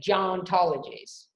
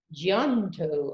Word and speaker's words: Geontologies: I say Geontologies, and other people say Geonto. I don't know. I hear it all sorts of ways.